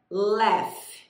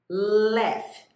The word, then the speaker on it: laugh: Esse G é pronunciado com som de F.